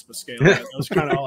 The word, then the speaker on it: Buscaglia: It's Buscaglia. Yes, indeed. I'm not even going to try to pronounce your last name, even though you just told me how to say it.